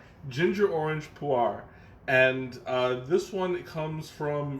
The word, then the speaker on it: pu'er: This time around, I'm going to do pu'ers. Pu'er is the more authentic pronunciation.